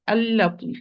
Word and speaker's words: اللطيف: As in, we said in this word, al-latif, any words except for Allah, lam always it's muraqqaq, always light. Close your eyes and do it. So here I'm going to say Allah, Allah. It's muraqqaq. It's mustafil, lowered letter. The sound does not ascend to the roof of the mouth. It descends.